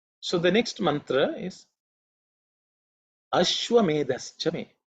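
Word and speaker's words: अश्वमेधश्च मे: So it has to be aspirated, it has to be stated with certain emphasis, because it's the fourth letter in the tha varga.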